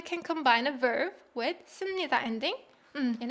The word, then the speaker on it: 씁니다: Although it's written with 피읍 받침, it's pronounced 씁니다. 씁니다. 씁니다, right?